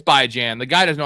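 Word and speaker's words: Bijan: Like Bjan by Jan is the best because best player in football and by Jan. He's like, "No, no, it's called it's by Jan.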